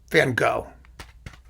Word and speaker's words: van Gogh: beautiful van gogh covers which i think in dutch is pronounced something like fun but you know van gogh we anglicize here so i don't want